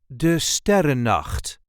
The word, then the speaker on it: De Sterrennacht: This is the way we say de STERRENNACHT. De STERRENNACHT. There is a light emphasis on the first syllable of the second word. De STERRENNACHT. De STER-REN-NACHT.